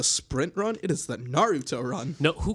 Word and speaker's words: Naruto: It's Naruto. Stop pronouncing it wrong.